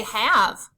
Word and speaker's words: have: Say have. In the word have, we can sound out the first 3 letters.